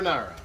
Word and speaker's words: Carbonara: How do you say- Carbonara. Carbonara. Yeah. Like the sauce? Carbonara. Carbonara. Carbonara. Just like the pasta sauce.